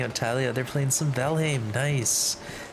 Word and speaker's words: Valheim: I was saying it right. It just sounds so similar to the other word. It's hard to tell the difference.